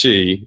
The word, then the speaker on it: qi: but it's it's it's spelled qi pronounced Chi it's it's a it's